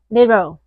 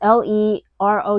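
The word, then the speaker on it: Leroux: the Opera by Gaston Lero. I don't know if I'm pronouncing his French last name accurately, but his last name is L E R O U. So, Lero, yeah, maybe you can help me out here.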